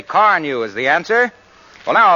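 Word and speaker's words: Carnu: Why not shine up your car with Johnson's Wax-Fortified Car New? It's spelled C-A-R-N-U.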